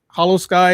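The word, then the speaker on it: Holo Sky: Hollow Sky is one of the top rated parallel podcasts out there.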